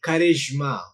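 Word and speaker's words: charisma: bar no already and plumber s-u-i-t-e sweet c-h-e-r-i-s-m-a Karishma so uh third strategy of learning a new word is pronunciation and that the pronunciation you must look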